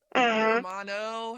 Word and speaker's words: hermano: The feminine masculine loss hermano hermano. Okay, the h is silent but y'all understand.